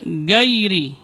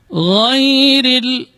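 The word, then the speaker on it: غير: Misalnya dibaca gairi, salah. Tapi dia termasuk rakhawah, huruf yang mengalir ketika pengucapannya. Ghairil, kemudian huruf ra-nya dibaca tarqiq, dibaca tipis karena berbaris kasrah.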